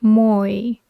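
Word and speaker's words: moe: who possess such traits pronounced Moy Moy okay just another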